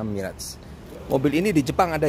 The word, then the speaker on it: Mirage: review Hai Mitsubishi Mirage kalau orang sini ngomongnya mirip sepatunya bacanya Mi'raj kalau di Jepang sana Mi'raj mobil ini di Jepang